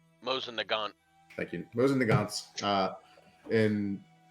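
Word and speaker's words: Mosin–Nagant: Number of forgive me if I'm not pronouncing it right. The Mosin Nishon. Mosin Nagant.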